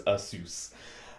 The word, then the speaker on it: Asus: no it is actually i actually did find out the pronunciation just before the show it's asus um anyway go they